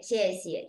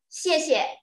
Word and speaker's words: 谢谢: 谢谢, you see the 谢谢, the second one is neutral tone. Pronounced soft and weak.